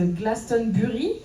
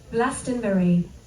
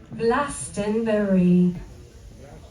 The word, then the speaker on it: Glastonbury: Alors surtout avec un accent français, on dirait peut-être Glastonbury, mais donc on a la bonne prononciation juste ici avec une voix anglaise. Glastonbury. Glastonbury.